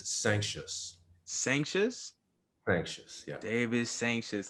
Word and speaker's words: Sancious: But the way I pronounce it is Sancious.